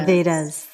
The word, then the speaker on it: Vedas: predates the vera veras how do you say that correctly yeah the vedas the knowledge yeah the